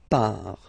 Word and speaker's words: pars: So final S not pronounced, je pars.